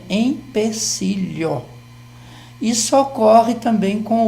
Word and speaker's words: empecilho: séria então a alma normalmente as pessoas elas é pronuncia pronunciam esse é como se fosse mesmo mas a palavra certa é empecilho isso ocorre também com